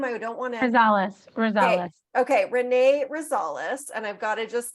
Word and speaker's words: Rosales: your last name I don't wanna okay Renee Rosales and I've got to just touch up the